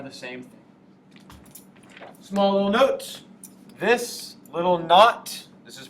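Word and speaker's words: naught: and this are the same thing small little note this little notot this is pronounced not at the top means standard state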